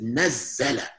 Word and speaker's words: نَزَّلَ: You see this shadda, it looks like an inverted comb. This means that this is nazzala.